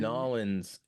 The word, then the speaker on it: New Orleans: Nolans.